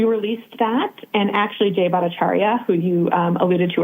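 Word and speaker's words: Bhattacharya: NIH his initial how do you pronounce that name again Dr. Norton, if I'm pronouncing is it Bacharia? That he's the director of NIH. Got it. That's Yeah, that's correct.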